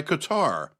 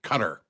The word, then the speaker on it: Qatar: a deal brokered by Qatar and yes that's how I'm going to say it I always hear the talking heads on the news pronounce it cutter they put the accent on the wrong syllable if you ask me